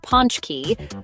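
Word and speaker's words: pączki: birthdays and holidays Poland's beloved potski pronounced Ponch key are round deep fried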